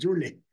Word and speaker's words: Joule: Ya, Joule, como el Joule.